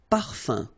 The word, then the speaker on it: parfum: So it's nasal and it's un. So it really goes in your nose. You don't pronounce the M at all. Un. Okay? So par, fin, parfum.